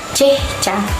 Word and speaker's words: Chehcha: Sebutan dia Chehcha. Ejaan dia CHEH-CHA. Chehcha.